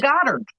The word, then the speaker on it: Goddard: So if I'm pronouncing Oh, it Goddard, like Goddard, Dick yeah.